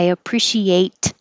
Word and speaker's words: appreciate: of she ate appreciate now the t will change to a d if there's a vowel after it so i appreciate it you don't hear any ts because this t changes to a d and you hold the t at the end i appreciate it did